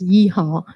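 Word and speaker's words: Yee Hong: It should be pronounced as Yi Hong.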